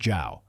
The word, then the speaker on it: Zhou: After his fall, Dixon was given the posthumous title of King Zhou, pronounced Zhao, where the character Zhou